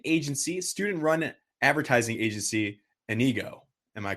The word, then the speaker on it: Inigo: for the student agency student run advertising agency anigo am I correct on that pronunciation um yes you're perfectly correct so we're